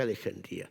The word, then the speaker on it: Alejandría: Alejandría y me dice Tú eres el único que pronuncia Alejandría Porque todos los españoles decimos alejandria pero in le ha puesto el ascento para hacer algo poco de su Yo pensaba que se decía Alejandría también no así que